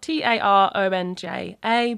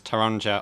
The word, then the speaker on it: taronja: Yeah, sometimes people miss out, so it's spelled t a r o n j a, but sometimes people miss out the a after the t, so they say taronja.